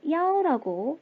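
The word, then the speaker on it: 一: 그런데 야오라고 지금 소리를 냈잖아요. 정리 한번 할게요. 숫자 1은요. 원래 2라고 발음을 합니다. 그런데 어떨 때 전화번호, 방번호, 노선 번호들을 읽을 때는 야오라고 발음을 한대요.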